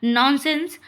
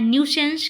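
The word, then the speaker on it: nuisance: नॉनसेंस। नॉनसेंस पढ़ते हैं हम इसको। लेकिन ये पढ़ा जाता है न्यूसेंस।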